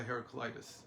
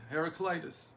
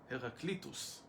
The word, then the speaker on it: Heraclitus: and again philosophically because everybody was affected by heraclitis her heraclitus heraclitus as you say in Greek who that he